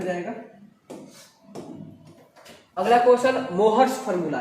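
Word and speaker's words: Mohr's: ये होता है FeSO4 × NH4 का होल ट्वाइस × SO4 × 7s2, इसको मोहर्स सॉल्ट कहा जाता है। मोहर्स सॉल्ट या मोर सॉल्ट भी कहते हैं, इसमें साइलेंट भी होता है।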